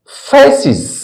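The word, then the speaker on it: faces: उसे प्लूरल बनाया जाए तो उस एस या ईस का उच्चारण इ के समान होता है इ एग्जांपल लेते हम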